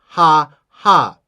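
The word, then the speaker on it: 蛤: You know, but it means toad in Chinese, but it's pronounced ha ha.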